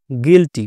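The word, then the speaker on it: guilty: বিষয়টা বোঝা যাব যেমন জি ইউ আই এল টি ওয়াই গিল্টি গিল্টি কেন হলো বলুন তো ইয়ের উচ্চারণ এখানে আমরা কি করলাম ই করলাম কেন করলাম কারণ ইউ আই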